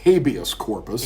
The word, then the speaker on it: habeas corpus: We will pronounce it in a more English way, sort of an anglicized way. We'll call it habeas corpus.